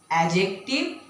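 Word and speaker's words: adjective: Noun pronoun এডজেক্টিভ। অনেকে এটাকে এডজেক্টিভ বলে। That is নট এডজেক্টিভ। এডজেক্টিভ because D is silent হয় ভারব এডভার্ব preposition interjection and conjunction তাহলে চল দেখে নিই আমরা নাউন কাকে বলে?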